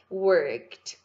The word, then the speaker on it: worked: A pronúncia é worked, worked.